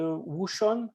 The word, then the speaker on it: Wouxun: If you want to go the Chinese radio, the Wuxun, I think it's pronounced.